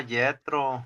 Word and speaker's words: Jetro: Ok, sí, se llama Yetro, hermano. Así se llamaba Jetro o Yetro. La pronunciación está medio rara, pero exactamente.